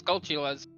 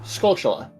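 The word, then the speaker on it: Skulltula: I always pronounce as gulas what is the official pronunciation you're supposed to pronounce it like tarantula so it is scula correct yeah scula okay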